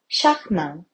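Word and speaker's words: charmant: 우아하다 이런 표현으로 엘레강스라는 단어를 쓰는 거 같고요 샤크망 영어로는 뜻은 매력적인 혹은 사랑스러운의 뜻을 가지고 있습니다 프랑스어 발음은 샤크망이라고 하는데 어디서 들어본 거 같은 브랜드인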